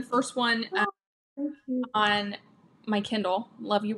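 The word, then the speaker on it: Luview: there are four siblings the love you siblings and their name is spelled l-u-v-i-e-w but the town is called love you Maine um so they totally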